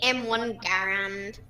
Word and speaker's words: Garand: I does m1 garand especially say m1 garand yes that's actually how how how it's pronounced it's go home I've